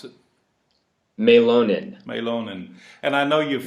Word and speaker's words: Mielonen: So, it's that Finnish thing, Mielonen. Mielonen.